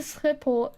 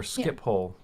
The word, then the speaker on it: Schiphol: Yeah, foreigners can't pronounce. It's like Den Haag. when you're flying to Schiphol, but you're flying on a non-Dutch airline, they'll be like Schiphol. Schiphol, or Skiphole is how I usually hear it it's meant